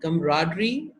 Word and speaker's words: camaraderie: कमराडरी, ये मैंने इसकी प्रोनाउंसिएशन लिखी है, कमराडरी बोल रहे हैं इसको।